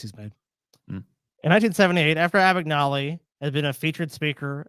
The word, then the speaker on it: Abagnale: In 1978, after Abagnale had been a featured speaker at an anti-crime seminar, the San Francisco Chronicle reporter looked into his assertions.